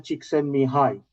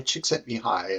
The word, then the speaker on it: Csikszentmihalyi: First time I'm talking to someone who has been mentored by a great guy, Mihaly Csikszentmihalyi.